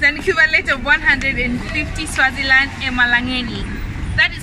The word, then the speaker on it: emalangeni: Okay, if it's plural, call it emalangen. Emalangen? Yeah, but if it's just one, then it's lilangen. Oh, lilangen when it's one, plural emalangen.